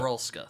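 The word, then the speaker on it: Norylska: Wait, how do you pronounce that? It's something groans. Norelska. Yep. Norolska, thank you.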